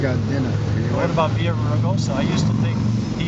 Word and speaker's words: Villaraigosa: You were saying Villa Grossa. Hey, boys. How are you? Villa Grossa. Villa Raigosa. Villa Grossa. You don't pronounce the L.